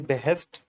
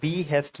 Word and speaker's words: behest: तो हमारे पास अब नेक्स्ट जो वर्ड है वो है जी बेहेस्ट। ये एक नाउन है। इसकी प्रोनाउंसिएशन आप ज़रूर खुद से भी देखिएगा, क्योंकि इस ये बी हेस्ट नहीं है, इसकी प्रोनाउंसिएशन है बेहेस्ट।